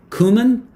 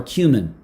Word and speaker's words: cumin: So do you say cumin or cumin? So I say cumin, but I hear cumin all the time.